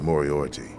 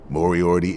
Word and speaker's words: Moriarty: Might want to check with Moriarty.